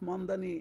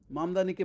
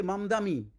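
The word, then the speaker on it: Mamdani: মামদানি বলছে মামদানী বলছে মানে ঠিকমত সঠিকভাবে মামদামি মামদামি হ্যা মানে কম দামী বেশি দামী মামদামি এরকম আর কি হাস্যকর ব্যাপার।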